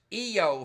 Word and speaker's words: Io: uh satellite of Jupiter it's EO for Christ's sake is it though spelled I oh yeah but is it